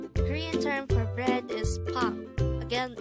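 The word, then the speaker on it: 빵: Korean term for bread is pang. Again, it's pang. This is composed of just one syllable, which is pang itself.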